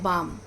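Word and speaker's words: balm: different होता है जैसे बाम बाम पाम में हम एल का उच्चारण नहीं करते राइट एल हम क्या करते हैं साइलेंट पढ़ते हैं तो बाम पाम गेट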